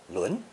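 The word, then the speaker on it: 仑: the idea of arranging things in proper order, pronounced 轮.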